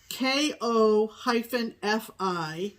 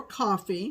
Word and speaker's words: Ko-fi: However, there is another company called KO-FI. I've heard it pronounced Kofi or Coffee.